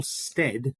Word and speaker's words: Stead: It's Stead, rhymes with bread or dead, which is a funny thing.